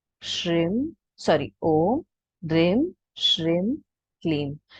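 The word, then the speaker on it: क्लीं: अभी ये जितने भी मैं क्लीम कह रही हूँ, जितने भी मैं क्लीम कह रही हूँ, सारे KLEEM ही है, क्लिंग कोई भी नहीं है।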